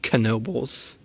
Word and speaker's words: Knoebels: where in Pennsylvania we are and yes it's pronounced Knoebels I refuse to say that for a while